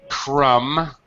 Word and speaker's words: crumb: I'm not sure if you did or didn't, but crumb. We do not pronounce the B. The B is completely silent.